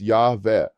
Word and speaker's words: llave: Key is llave, pronounced llave. The double L in Spanish makes a Y sound in most countries, though in some regions it sounds more like the J in judge. This is one of the